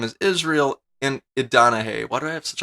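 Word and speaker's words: Israel Idonije: I said his name wrong first, didn't I? His name is Israel Idanahe. Why do I have such a hard time saying his name? Israel Idanahe.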